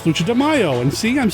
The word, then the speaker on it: Lucha de Mayo: guess you could say this month because it's lucha demaio and see i'm saying it right see i